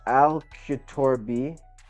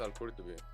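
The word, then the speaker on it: al-Qurtubi: So he says Al Kutorbi. Bro, my accent is just. Yeah, I think it's Al Qurtubi.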